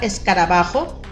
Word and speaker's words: escarabajo: Nos damos cuenta que en la ba se escucha más fuerte. Si yo mencionara más fuerte otra sílaba, por ejemplo, escarabajo, pues no, ¿verdad?